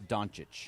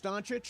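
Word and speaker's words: Dončić: I believe it's Donuch. You think it's Donuch? Yeah, I think according to basketball reference it's Donuch. Oh, they spell it out. There's a phonetic spelling on I was also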